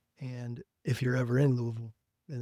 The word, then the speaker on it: Louisville: I don't know how the You don't pronounce the That's the moral of the story is there's no S in there. It's just Louisville.